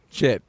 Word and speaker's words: Schiit: It's called a shit. Okay, it's spelled SCHIIT.